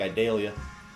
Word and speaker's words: Idalia: talking about tropical storm idalia idalia idalia I don't know in the South it sounds more like I think we pronounce it more like idalia so any case let's